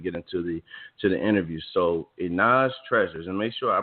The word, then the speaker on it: Jenae's Treasures: So, Jenae's Treasures, and make sure I pronounced that.